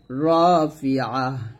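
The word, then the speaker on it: رافعة: এই 8টা হরফ যখন জবর দিয়ে পড়বেন তখন বাংলাতে আকারটা উচ্চারণ করবেন না। যেমন এখানে খা বলবেন না, বলবেন খ। ফির দ বলতে হবে, দা বলা যাবে না, রা বলা যাবে না, র বলতে হবে। এরকম 8টা হরফ যেখানে জবর দিয়ে উচ্চারণ করলে বাংলা আকারটা ব্যবহার করা যাবে না।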